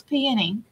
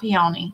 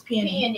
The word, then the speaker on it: peony: It's peony. That is how you pronounce it. It is not peony. No, it's peony.